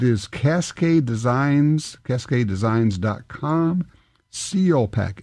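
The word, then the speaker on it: Salpak: gear and they make an item called a seal pack and it's spelled s a l p a k and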